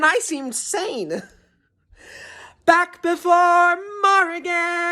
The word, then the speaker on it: Morrigan: morrigan is born again it's pronounced morrigan like oregon with an m it's what i picked